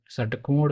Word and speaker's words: षटकोण: षटकोण बोल रहे हैं उसे ध्यान से देखें षटकोण जैसे आप शब्द जानते होंगे सादी तो इसमें सादी हवा बाहर निकल रही है और सफेद स सफेद सफेद हवा नहीं निकलनी चाहिए इसको बोलते समय तो यह स यह यह वाला स और इस स के उच्चारण पर आपको ध्यान देना है शद टको सफेद सफेद सफेद जीप को नीचे रखकर बोलना है इसी प्रकार के और